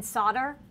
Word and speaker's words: solder: always hassling me because Americans pronounce it solder not solder and they say there's an L in there and then I'm like